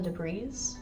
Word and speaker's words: debris: Clear all the debris. Okay. Debris. I don't know why I pronounce the S. You don't pronounce S.